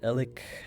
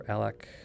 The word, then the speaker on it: Ellac: we cross the Great Bridge of elic or alak however you want to pronounce it to the little